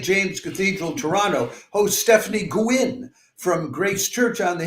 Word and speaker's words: Gouin: Or Gouin, actually, is how that'd be pronounced in French.